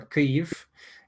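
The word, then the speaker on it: Kyiv: a good friend in key of ukraine or cleve uh is the proper way to say it um he's been a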